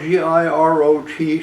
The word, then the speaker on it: Girot: name of Lisa Girot, G-I-R-O-T, she pronounces it Girot, Lisa Girot, claiming to have inherited my property via essentially two estates.